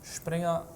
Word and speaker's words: springer: move the Knight horsey how do you say Knight in Norwegian sping ah sping like the German German Springer yeah right Springer Norwegian is very similar